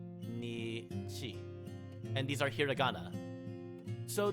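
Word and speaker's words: にち: And this would be pronounced as nichi or nichi.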